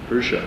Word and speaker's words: Usher: How does Ludacris pronounce Usher in Yeah? Usher.